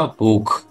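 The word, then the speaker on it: Buch: अगर वो ए ओ यू के बाद सी एच आता है तो उसका प्रोनाउंसिएशन ख होता है। तो इसलिए इसका प्रोनाउंसिएशन होगा बुक।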